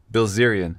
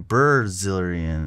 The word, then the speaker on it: Bilzerian: There's nothing funner than trying to hear him pronounce words. It's damn funny. Bilzerian. I believe it's B-I-L-Z. Bilzerian? Yeah, Bilzerian. Oh, Bilzerian. Okay, I was saying Brazilian.